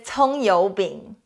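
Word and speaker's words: 葱油饼: chinese the word of the day today is tong yo bing scallion pancake the first character we learned last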